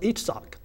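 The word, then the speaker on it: Yitzhak: in them you remember it's pronounced itach with the emphasis on that sock and you will see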